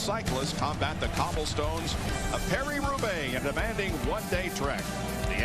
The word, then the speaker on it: Paris-Roubaix: The world's best cyclists combat the cobblestones of Paris-Roubaix, a demanding one-day trek.